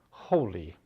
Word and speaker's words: holy: they don't uh whole holy they end up with out of the ridiculous spelling it looks like holly whole holy both are sound the same both treat the suffix